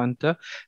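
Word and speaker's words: أنت: Ça se prononcera anta. Mais si on devait prononcer anti, le mot s'écrirait exactement de la même manière en arabe. C'est juste que la voyelle n'apparaît pas, hein, tout simplement.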